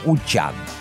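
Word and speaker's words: Wuchang: не вун а вун Хотя правильно говорить укун и учан ждём в следующем году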